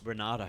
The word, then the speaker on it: Renato: Who do you got over Jalen and Renato? No. Why do I keep calling him Renato? Renato. It's Renato, mate.